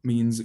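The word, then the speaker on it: מִן: bit more complicated and it's not e or i but e like you'd see in an italian word like pizza so you'd pronounce that hebrew word which means from as mean mean so whenever you see that letter you pronounce it e next one a bit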